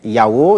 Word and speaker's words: Yao: Aujourd'hui, c'est les Yao qui sont à l'honneur. Yao s'écrit.